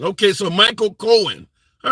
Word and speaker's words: Cohen: Cohan the okay Co Cohen says Cohan the H is silent okay so Michael Cohen all right fair enough